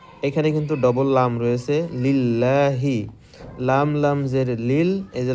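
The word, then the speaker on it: لِلَّهِ: আলহামদু আলহামদু আলহামদু এখানে কিন্তু ডবল লাম রয়েছে লিল্লাহি লাম লাম জের লিল এইযে লাম এর উপর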